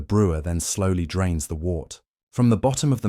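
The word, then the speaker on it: wort: After the rest, it's time to separate the sweet liquid, now called wart, pronounced wart, from the spent grains.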